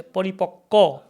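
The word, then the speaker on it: পরিপক্ব: We write va, but we don't pronounce va in Bengali. We say paripakko, apakko.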